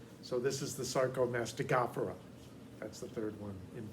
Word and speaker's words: Sarcomastigophora: and nobody uses it, is to go 3 in from the end and stress that syllable. So this is the Sarcomastigophora.